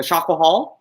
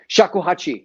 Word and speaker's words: shakuhachi: So, as you were talking about I don't know how to pronounce it. Was it the shakuhal? Shakuhachi, yeah.